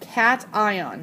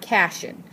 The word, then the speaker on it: cation: he would become a cation and yes it's pronounced cat ion not cashion cation and so it